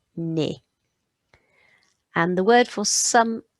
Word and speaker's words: nez: So if it ends in EZ, it's E, so it's un nez, un nez.